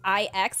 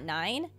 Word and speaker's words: IX: about his disappearance oh it's pronounced I ex and not nine um if I is